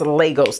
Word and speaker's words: Lagos: You guys told me in the last video that it's pronounced Burkina, and that the other foundation is pronounced Lagos, that I said it right.